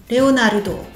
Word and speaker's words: Leonarudo: Cinq caractères, cinq syllabes. Léon Narudo, Leonarudo.